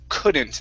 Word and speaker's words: couldn't: And the other word I want to practice with you is the word couldn't. Instead of couldn't with an U sound, it's couldn't. Try that.